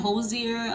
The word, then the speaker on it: Hozier: z i e r i don't want to butcher the name just in case you know but a man josier uh uh sings that song and that song